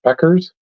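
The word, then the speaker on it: Bueckers: Uh Max correct you says it's pronounced Beckers.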